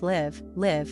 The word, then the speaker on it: live: Live, with the short, I, is the verb we use to talk about where someone resides. For example, I live in Spain. Leave, on the other hand, with the long, I, means to depart from somewhere.